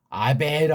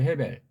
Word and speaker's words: 헤벨: 근데 이 발음도 해를 또 없애버리고 여기 있는 모음부로 해가지고 아벨 하는 거야. 아벨. 이거 아직까지 고쳐지지도 않아요. 이거요. 엉터리입니다. 이거. 해벨 그래야 돼요. 해벨.